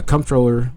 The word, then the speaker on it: comptroller: A comptroller, pronounced either the same controller, is a management level position responsible for supervising the quality of an accounting and financial reporting of organization.